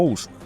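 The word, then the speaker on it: عثمان: qué otomanos Por qué el nombre de osman en árabe se escribe así y se pronuncia algo así como usman y el primer gran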